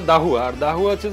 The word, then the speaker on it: Dahua: আর এই দাহুয়াটা, এখানে একটা মজার বিষয় আছে, দাহুয়াটা এখানে অনেকে উচ্চারণের সমস্যা ওই ডিজাইনের কারণে, মানে আধুয়া বলে বা এক্সওয়াইজেড বলে, তো এটা হচ্ছে আছে আর দাহুয়া, আর দাহুয়া হচ্ছে যে